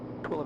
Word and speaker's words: Tooele: Automated weather observation, Tooele, wind 150 degrees, 11 knots, visibility more than 10 miles, sky clear, Tooele, temperature it's 32, pronounced Tooele.